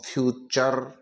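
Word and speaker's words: future: ई को चर पढ़ेंगे टी यू आर ई का उच्चारण चर निकालेंगे टी यू आर ई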